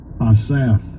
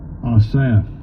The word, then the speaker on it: Asaph: Asaph. Yeah. Asaph. It's spelled ASAP.